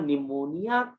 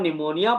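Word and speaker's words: pneumonia: जब आप निमोनिया बोलते हो लिखते हो तो पी से लिखते हो, और जब आप बोलते हो तो पी क्या हो जाता है, साइलेंट।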